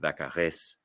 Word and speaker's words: Vaccarèse: I think Vaccarèse, it's a little bit of Vaccarèse. it's a harder Z sound, and it's an ez at the end because